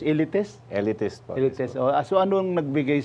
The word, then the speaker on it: Eleatist: Paano bang tamang pag-pronounce? Elitest. Elitest po.